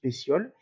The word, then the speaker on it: pétioles: l'on appelle le pétiole ici on s'inscrit pépiole mais on prononce pétioles et à l'intersection entre